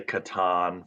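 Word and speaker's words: Catan: that yeah that's right so how do you pronounce clouse twers the settlers of oh I would definitely say Katan for sure without a doubt you know I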